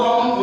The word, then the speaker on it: who: हुआ, तो हम ओनली ये W क्या हमारा साइलेंट वर्ड है, क्या है, साइलेंट वर्ड है, तो हमारे पास क्या बचा है, H बचा है, ठीक है ना। तो हम इसको क्या पढ़ेंगे, हु।